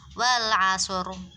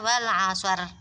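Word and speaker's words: والعصر: Maka baca dari wal asri ini ketika dia waqaf, maka dibaca dengan cara mulut moncong. Wal asr, wal asr, asur mencucu ya, bukan wal asar, bukan wal asar, bukan, tapi harus wal asr dengan mulut moncong.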